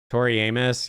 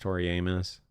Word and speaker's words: Tori Amos: Tori Amos. Yeah, that's that's how you pronounce it. Tori Amos.